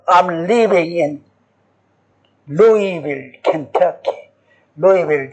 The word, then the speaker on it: Louisville: Louisville, they pronounce it Louisville. Louisville. Louisville. Even they didn't say Louisville. But it's L O U S. But you never pronounce S.